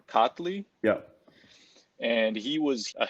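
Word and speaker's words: Çatlı: I don't know how that C in Turkish is supposed to be pronounced, but Abdullah Chatli or Katli, Yeah.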